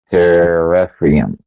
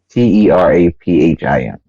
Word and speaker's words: teraphim: Teraphim. Tera- the t e r a p h i m Teraphim.